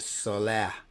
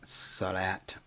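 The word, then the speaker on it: صلاة: So it should then be pronounced salah and not salat.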